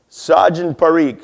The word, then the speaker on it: Sajan Parikh: Sajan Parikh. So like a saw and you're drinking gin.